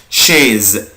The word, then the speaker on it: chaise: شيز شيز شيز شيز كرسي، شيز كرسي. شوكولا شوكولا شوكولا. يبقى انا دلوقتي استفدت يا ولاد، عرفت ان السي اش اما بتجيلي مع السي بعدها اش بنطقها ش.